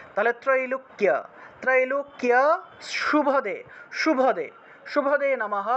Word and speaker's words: ত্রৈলোক্য: নিশুম্ভ শুম্ভ নির্নাশী ত্রৈলোক্য, এখানে দেখুন কয়ের সাথে জফলা আছে, কয়ের সাথে জফলা থাকলে কিয় উচ্চারণ হয়, কিয় কিয়, অর্থাৎ জফলার জন্য ই এবং ও উচ্চারণটা চলে আসে। তাহলে ত্রৈলোক্য ত্রৈলোক্য শুভদে শুভদে শুভদে